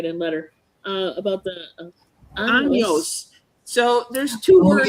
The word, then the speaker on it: años: years, and so we were taking our lesson last Wednesday at the library, and años with the N has a little tilde, or however you Mhm.